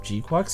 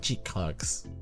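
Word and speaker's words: GQuuuuuuX: Is there I mean do people still argue on the pronunciation of Gquex? It's definitely Gqu, right? It's not GX, as funny as that would be.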